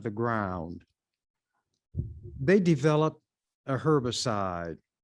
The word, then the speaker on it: herbicide: ground they developed a herbicide some would pronounce the h when it's with herb sh not herbicide herbicide but however you pronounce it it's still the same